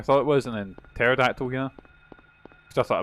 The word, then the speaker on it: pterodactyl: What's like a pterodactyl? See, as a kid, I thought uh I didn't understand that like P was uh was spelled like PH and you didn't hear it.